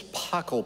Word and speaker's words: Pachelbel: So before the service, Roy wanted to make sure I pronounced the composer right, and he reminded me it's Pachelbel, Bell, not Taco Bell.